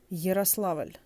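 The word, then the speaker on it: Ярославль: Yaroslavl, it's pronounced more like yi. Yaroslavl.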